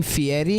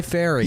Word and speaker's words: Fieri: best part though dude he pronounced his name Fieri yeah and he was born guy Ferry he was born guy